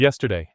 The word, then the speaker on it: yesterday: Be a beautiful hoặc yesterday. Nhấn mạnh vào. Yes. Yesterday.